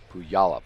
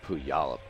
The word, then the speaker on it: Puyallup: pronunciation chat right there that could pull y'all up PLU football plays in Puyallup so we had to know those things back in 1999 who yollop playoff Washington who yollop I think it's I